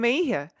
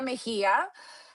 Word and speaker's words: Mejia: So no! J's and H. It's cool. It's cool. J's and H in Spanish. It's a trick. So it's Mhm. Ana Lilia Mejia, and Analilia I'm so Mejia.